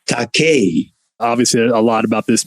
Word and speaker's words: Takei: well what uh and how it should truly be pronounced is taque obviously a lot about